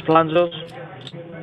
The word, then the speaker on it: Planzos: It's Planzos. Spell that?